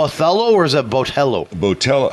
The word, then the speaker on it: Botelho: is it Bell botell how do you say botell botell see I always say it wrong he's adding an extra H everyone does that I think it's just uh not right because there's no extra H in there it's so b o